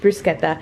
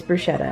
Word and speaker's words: bruschetta: made up some bruschetta which yes i know it is can be pronounced bruschetta but it's bruschetta in our house so i just had